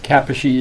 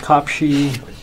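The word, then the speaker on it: Kaposi: it from several KS Kappa she is properly pronounced cop she although his name was Morris Cohen it just came from the town of cop she wear the cup she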